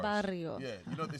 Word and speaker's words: Barrio: You have to roll your R's. Barrio.